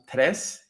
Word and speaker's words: Tres: It's the Spanish word for three, pronounced tres.